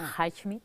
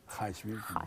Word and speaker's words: Highsmith: La Patrícia, com es pronuncia? La Highsmith. Highsmith, gràcies.